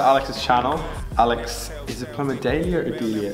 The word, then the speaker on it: Plamadaela: I wouldn't expect people to get the like pronunciation, because in my language there's these little like things over the A's that change the pronunciation.